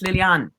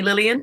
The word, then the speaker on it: Liliane: yeah so it's the the pronunciation with the e on the end is lilian it's french but but mum called me lillian and dad call me lillian so both are good i'm gonna call you